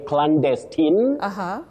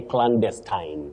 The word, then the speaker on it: clandestine: is oh Betty that word has two acceptable or alternative pronunciations you can you know say clandestine you can also say clandestine so acceptable in standard English.